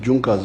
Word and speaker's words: Junkers: It is written in Junkers, but they pronounce it as Junkers.